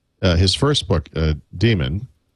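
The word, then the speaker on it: Daemon: I I I want to say that uh his first book uh Demon spelled like, you know, dame like the Unix demon, right?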